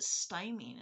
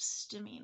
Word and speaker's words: stimming: thought it was weird he calls it stymie instead of stimming i'd never heard it pronounced stymine before and i i don't i don't know if that's a northern ireland thing or because everyone i know says stimming but i'm in america